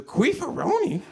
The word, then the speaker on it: Queefaroni: So the name of my species is the Queefaroni, spelled like rice-a-roni, capital Q, queef, hyphen, capital A, hyphen, capital R-roni.